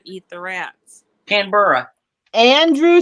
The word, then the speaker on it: Canberra: Canberra. I'm going to pronounce it. There we go. No definite enunciation of the E.